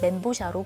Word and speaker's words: 멘보샤: 기름에 바삭하게 튀겨낸 요리인데요 멘보샤는 이름은 중국어로 빵 멤버 그리고 새우 샤를 합친 말인데 바 샤를 엉터리로 읽은 발음이지만 이미 사람들에게 오랫동안 이렇게 불려서 그냥 멘보샤로 굳어지게 됐습니다 이름만 들으면 일단 중국